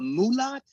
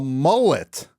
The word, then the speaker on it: mullet: Oh, a mullet. Oh, is that how you say it? Oh, okay. Yes, mullet. Maybe that's it. Mulat. Oh, okay. A mulat. That's what I thought it was. Okay, it's mullet.